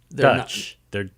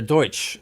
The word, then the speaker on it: Deutsch: So they're not Dutch. They're Deutsch. They're Deutsch. It's the Pennsylvania Deutsch. You see, Deutsch. but then it got anglicized to Dutch.